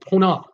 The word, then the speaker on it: Ponant: Now in June, there's a cruise line called Ponant. I think that's how you pronounce it, Ponant. Spelled P-O-N-A-N-T, Ponant.